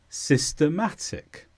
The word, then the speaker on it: systematic: is an adjective and the stress is on Ma systematic and the first meaning is